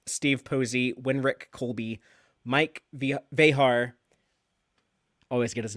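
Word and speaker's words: Vejar: And the directors on these were other DS9 regulars, Steve Posey, Winrick Colby, Mike Vehar, always get his name wrong, got it right that time.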